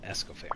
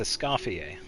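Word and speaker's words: Escoffier: It's not Escoair. Hi, I keep on mispronouncing her name. It's Es Scafier.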